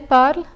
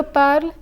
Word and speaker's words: parle: In je parle, il parle, elle parle, the words end with an E, but this letter is silent. It is the letter L that precedes it which is pronounced. So in this case, you only hear the L sound at the end of je parle, il parle and elle parle.